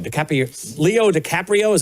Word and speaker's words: DiCaprio: And that was starring Leo DiCaponio. DiCaprio.